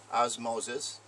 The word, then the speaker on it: Ozmozezz: again here it's osmo's it's spelled o z m o z ezz pronounced osmosis and here's the definition